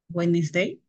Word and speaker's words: Wednesday: de tuesday tuesday miércoles wednesday ya la d no suena la la A ver